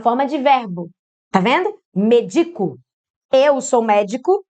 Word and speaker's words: medico: Você pronunciou médico, que você pronunciou médico tá errado. Tá escrito medico, viu? Medico.